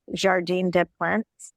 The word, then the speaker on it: Jardin des Plantes: I had really hoped we were going to go into Jardin des Plantes.